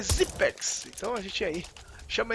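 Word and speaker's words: Xyp9x: o nome dele é todo mundo fala Zip Nix Zip Nix Mas uma vez uma entrevista a um repórter ele falou que o o nome correto a pronúncia correta é zex então a gente aí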